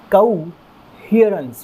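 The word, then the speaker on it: coherence: बात करता है तो इस वर्ल्ड का प्रनंसीएशन होगा को हीरेन ध्यान रखिएगा को हिअरेंस बार-बार इसे बोलकर के समझना की कोशिश कीजिएगा बार-बार अगर आप इसको उच्चारण करेंगे तो आप जो है बेहतर तरीके से इसे प्रोनाउंस कर पाएंगे के ऊपर लगा हुआ है इसीलिए अपने को जोर यानी की स्ट्रेस कहां पर देना है हा वाली साउंड के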